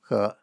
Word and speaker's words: He: being initialization or called her initialization and notice it looks like it's spelled e but it's a Chinese surname so it's actually pronounced her okay um maybe that's